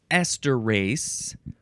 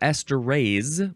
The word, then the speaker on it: esterase: Hey, the first word in this episode today is esterase, or esterase with an S or a Z sound, Esterase, esterase, noun from 1917.